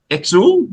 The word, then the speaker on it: Exul: So, you're playing obviously the new album X exel. Is that how you pronounce it?